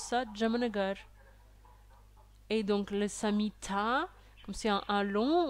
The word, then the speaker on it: Samhita: Il y a beaucoup de personnes qui prononcent mal Samhita aussi. À la fin du mot Samhita, il y a un A long. Donc en fait, il faudrait le prononcer Charaka Samhita.